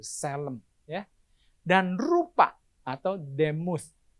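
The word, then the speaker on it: צֶלֶם: Dalam kurung, dalam bahasa Ibrani, Selem. Bacanya gitu, Selem.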